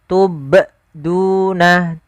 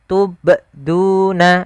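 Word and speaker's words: تُبْدُونَ: Yang pertama tidak mantul. tidak mantul. Contoh, tubduna wa aamu ma tubduna. Ah, ini salah. Yang kedua harus kita perhatikan ya, Teman-teman. Yang kedua bnya itu ditambahkan hamzah. Contoh tubuna tubduna. Ah, ini sama itu salah.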